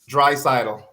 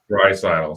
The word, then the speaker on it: Draisaitl: How do you pronounce that, Kurt? Draisaitl. Draisaitl.